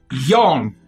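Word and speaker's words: Yon: Yawn with an O. Y-O-N. Y-O-N. Oh, Y-O-N. So not yawn.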